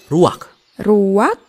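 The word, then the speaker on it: רוח: kehadiran Allah secara pribadi kata dalam bahasa ibraninya adalah ruwak-ruwak ya benar tenggorokan kita harus benar-benar bersih di akhir pengucapan jadi apa itu eh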